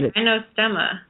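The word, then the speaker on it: Gynostemma: o o s t m m a yeah gyo stema gyo stemma yeah and it's some super potency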